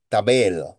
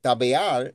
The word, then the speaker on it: Tabeal: Esta palabra, cuando se pronunciaba correctamente, Tabel, significa el Dios que no vale para nada. Pero si se pronunciaba bien, Tabeal, entonces significa el buen Dios.